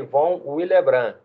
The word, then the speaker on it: Von Willebrand: fator de Von willebrand se escreve Von willebrand bom com B mudo no final mas se pronuncia fator de Von willebrand tá esse fator de